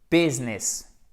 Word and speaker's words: business: Business. Et alors, le I ne se prononce pas ici. Ah oui, vous voyez en fait, un mot tout simple, c'est pas business, c'est business.